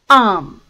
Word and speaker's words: arm: Arm. Arm. As I mentioned earlier, R sounds are not very prominent in British English. And hence, it is pronounced as arm.